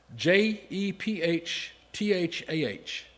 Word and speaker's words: Jephthah: uh I'm not going to be able to pronounce this. Jephthah J E P H T H A H Jephthah Jephthah Okay, and David and Samuel and